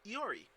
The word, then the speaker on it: Iori: twitter at iori that is spelled i o r i there are no l's in my name and lori kuzana was probably real sick of getting at meant for me nice as someone who